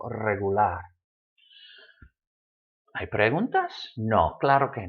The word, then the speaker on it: regular: So the stress should fall on that last syllable, regular.